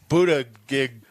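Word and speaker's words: Buttigieg: concern joe biden's going to say today pete buddha gig yeah that's how you say it he said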